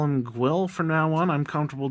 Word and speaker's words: Gwyll: Next is the henchman, Gwyll, or according to the Welsh pronunciation on Google, Gwyll. I'm only going to call him Gwyll from now on.